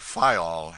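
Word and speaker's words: Faial: of the group fayao the people there pronounce it file and put the accent on the first syllable we anchored in the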